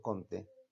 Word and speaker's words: Comte: la educación con Augusto Comte, o Augusto Comte, que al salir me dijo, no es Comte, maestro, es Com.